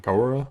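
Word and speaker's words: Kiora: We are running Kaora, that's how you say it.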